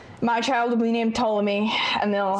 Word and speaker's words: Ptolemy: My child will be named Ptolemy, and they'll Silent P? No, it's gonna be Silent P.